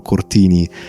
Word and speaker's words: Cortini: It was made for Alessandro Cortini. That's how you pronounce his name, and that's how you pronounce Strega.